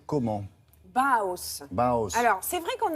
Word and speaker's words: Bauhaus: Vous prononcez comment? Bauhaus.